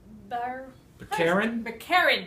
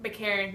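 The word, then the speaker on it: Baccarin: Also, Marina Bakarin. That's how I would pronounce that. Bakarin.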